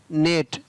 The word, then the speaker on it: gnat: GNAT नेट, तो यहाँ पर जी का उच्चारण नहीं हुआ।